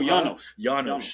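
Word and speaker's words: Janosz: never mind so I don't know how to pronounce his say his name it was Janos oh Janos That's what it is.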